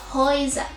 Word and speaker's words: Häuser: Lo mismo sucede cuando tenemos una EU, o sea, una A con umlaut y una U. También lo pronunciamos como una O y una I. Es por esto que aquí decimos Häuser.